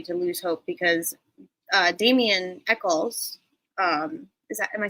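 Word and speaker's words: Damien Echols: don't want anybody to lose hope because uh Daman Echols um is that am I saying it right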